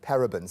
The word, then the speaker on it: parabens: the first obvious question parabens am I even saying it right what are parabens and